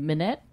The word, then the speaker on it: Minnette: And then Dylan Minette? Monet. How's it spelled? Minnette. Minette. Minette. Yeah. Yeah, it's Minette.